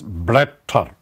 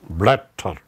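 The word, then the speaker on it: Blätter: blatter this is with umlaut and it is pronounced as blatter blatter leaf that is neutral the skin kind of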